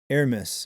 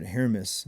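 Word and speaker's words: Hermès: And there are Hermes. Okay. I would have pronounced it Hermas.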